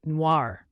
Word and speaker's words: noir: or a black cat you pronounce it Noir similar to Noir in film Noir then we have Blanc